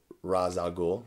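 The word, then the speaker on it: Ra's al Ghul: of dc we've got ray chalgool now back in the day they pronounced it raz algul i'm pretty sure because they didn't have google this cape is ridiculous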